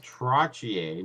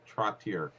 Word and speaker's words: Trottier: best of me and it's brian trottier not trottier i yeah i i would never play it i always say it correctly that's it trottier oh